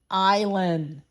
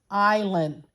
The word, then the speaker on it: island: to vacation on the island yes I think it's time I go to the island island and that s is silent isn't it that's a